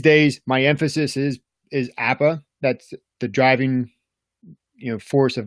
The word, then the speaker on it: APPPA: pasture poultry producers Association we just call it app' is how we pronounce that acronym it's a whole lot